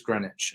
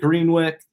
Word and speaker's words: Greenwich: uh wondering I was like how do you pronounce where he's from and I'm pretty sure it is Greenwich so yeah I called it greenwick and you know there's green witch but I